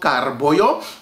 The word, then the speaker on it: Karoe Bojo: right here is called carboyo it is spelt boyo but because in my native creole language we contract the words we say carboyo of course i'm gonna